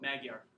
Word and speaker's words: Magyar: Magyar.